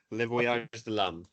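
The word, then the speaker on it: Les Voyages de l'Âme: Okay, I'll pronounce So I was it gonna for say you. Baguette. Less Voyages. Is Le Voyage de l'Âme.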